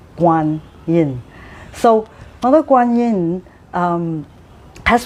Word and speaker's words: Guan Yin: and some of um some people call her Quan Yin. Uh both are the same. Uh for me, I pronounce her name in Chinese Mandrin um as Mother Guin.